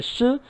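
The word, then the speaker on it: 四: Em chinês, em mandarim, 4 é shi e morte é shi, então realmente é muito parecido.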